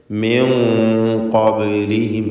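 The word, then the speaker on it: من قبلهم: ശേഷം ഖാഫിൻ്റെ അക്ഷരമാണ് എന്നതുകൊണ്ട്, ഖാഫാണ് ഇസ്തിഅലാൻ്റെ അക്ഷരമാണ് എന്നതുകൊണ്ട് മിൻ ഖബ്ലിഹിം എന്ന് പറയുക. ബായിൻ്റെ സുക്കൂൻ ഖൽഖല സൂറ നൽകി ശബ്ദം ചലിപ്പിച്ച് ഹറക്കത്ത് പോലെ വ്യക്തമാക്കണം. ഖബ് എന്ന് പറയുക.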